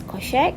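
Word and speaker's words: cosech: minus x okay hyperbolic cosec can pronounce it as coshec which is one over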